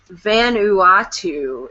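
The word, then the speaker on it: Vanuatu: Um, so I was pronouncing it wrong, which I figured I would, but um, it's the Van Uatu is the island, and Dave said that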